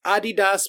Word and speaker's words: adidas: i but whatever it's adidas because that's how it was pronounced when it was Adi Dassler and the German Baba Nike yeah is